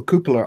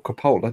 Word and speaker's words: cupola: figure in the little cupola on the top of the turret or Coppola depending on your pronunciation they're not 135th scale